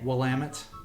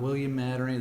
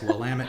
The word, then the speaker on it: Willamette: them a shot and it is definitely willamette not william mattering this some t-shirts there that say it's willamette damn it to remind you how to pronounce it correctly now what's the price